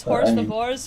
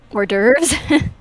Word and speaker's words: hors d'oeuvres: it then um yeah is horse divorce really horse divorce or is it or still hors d'oeuvres hors d'oeuvres see I always say